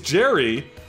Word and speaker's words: Jerry: I think, is Jerry, Jerry the Bomb, which, by the way, it rhymes with cherry, and sure enough, he